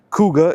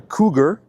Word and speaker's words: Kuga: snarky comments down below, Kuga is spelled k u g a. It's not a cougar, cuz Ford already had a cougar in the 2000s, which was actually a Mercury.